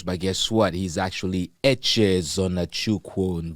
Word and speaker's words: Echezonachukwu: Let's hear the correct and the right pronunciation. ECHEZONACHUKWU. ECHEZONACHUKWU. ECHEZONACHUKWU.